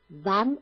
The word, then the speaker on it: wann: 在11点轮到 Braun 女士。那如果我们要问什么时候轮到 Braun 女士呢？我们就可以说 Wann ist Frau Braun dran?